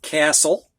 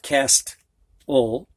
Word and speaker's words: castle: The first five end in TLE and you don't hear the T. So this is castle. It's not cast-ul.